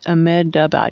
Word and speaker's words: Ahmedabad: Did I say that right? Ahmedabad. Yeah, got enough syllables in there.